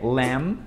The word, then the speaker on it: lamb: O mesmo vale para cordeiro, então carneiro, que é lamb.